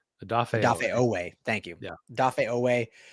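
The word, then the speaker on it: Odafe Oweh: Interesting trade right there, but losing, I always say is Owefe? I always say his name wrong. Odafe Owe.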